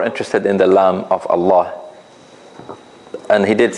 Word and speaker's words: Allah: we have a Kasra then this Kasra will make the word Allah pronounced with a soft lamb so we say we